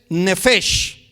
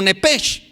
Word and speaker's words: nefesh: La palabra alma en el hebreo del Antiguo Testamento es nefesh. Otros la pronuncian como nepesh.